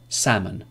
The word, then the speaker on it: salmon: would should could calf salmon so these are examples when the L is not pronounced but remember the rule